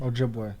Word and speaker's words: Ojibwe: Ojibwe.